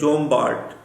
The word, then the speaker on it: Sombart: since 1913 by Werner Sombart, who is also sometimes pronounced as Jombart, Sombart.